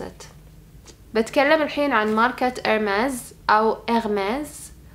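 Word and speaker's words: Hermès: بتكلم الحين عن ماركة إرماز أو إرماز، واسمها باي ذا واي إرماز بالنطق الفرنسي، بس يعني إحنا نقول إرماز، مش اسمها هيرمي ولا إرمي ولا هرمز، اسمها إرماز أو إرماز بالإنجليش. anyways لأنه وايد يستفزني اللي يقولون هيرمي، I don't know.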